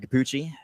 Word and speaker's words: Cappucci: Yeah, everything is at Matthew Cappucci. Cappucci spelled like cappuccino, but without the no.